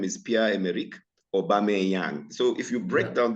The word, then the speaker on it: Pierre-Emerick Aubameyang: And so we had even Pierre-Emerick Aubameyang. Most people even now cannot pronounce his name correctly. They call him Boomayang, Bameyang, Booma. They have different versions.